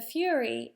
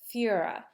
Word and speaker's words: Führer: The Fury is Bruno's mispronunciation of the word Führer, which means leader in German.